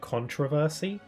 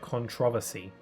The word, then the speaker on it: controversy: day um I I I said the word controversy and my mom claimed that in the UK we're supposed to pronounce it controversy. And I'm sorry that sounds absurd. That sounds dumb. I much prefer controversy.